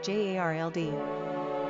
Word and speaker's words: Gerald: Pronunciation, Jarld. Simple meaning, ruled by the spear. Characteristics of Gerald.